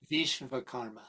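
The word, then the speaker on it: Vishwakarma: Vishva karma. Visa karma. Yeah. The the W is pronounced like a V often.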